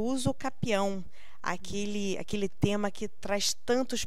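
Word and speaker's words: usucapião: Então, mas a pronúncia certa? É uso capião.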